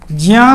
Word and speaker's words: ज्ञ: ज और यहाँ ज्या होना चाहिए, लेकिन ज्ञा बोलते हैं लोग।